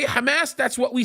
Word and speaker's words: Hamas: on a regular basis that's how we pronounce it in the Arabic language that's my second language